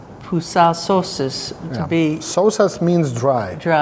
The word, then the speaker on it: pusiau sausas: And how do you pronounce that? Pusiau sausas. Pusiau sausas to be Sausas means dry.